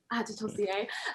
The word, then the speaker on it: Adetosoye: So my Instagram and Twitter are both at Adetosoye, as you so kindly and so well pronounced at the beginning, Adetosoye.